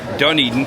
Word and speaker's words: Dunedin: Blue Jays, Dunedin Dunedin.